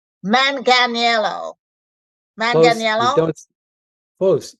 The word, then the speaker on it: Manganiello: me I'm gonna say manelo man don't folks you don't say the I and the tip is it's pronounced the same way as the actor Joe manganello who was actually married